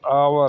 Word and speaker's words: hour: जैसे एन आवर, H silent है इसमें।